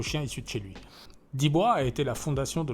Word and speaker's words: Dibo: Alors ça s'écrit Dibo, mais ça se prononce Dibois parce que c'est un nom d'origine africaine.